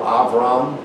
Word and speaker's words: Avram: not abraham he's abram the word father in hebrew comes from a b or it's pronounced a v ave so you have avraham or avram that's father when it